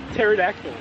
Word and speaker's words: pterodactyl: I call this pterodactyl because the P is silent.